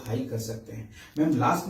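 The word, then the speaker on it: हं: उच्चारण कर सकते हैं थ्रोट के लिए आप हम एच यू एम हम मंत्र उच्चारण कर सकते हैं क्राउन के लिए आप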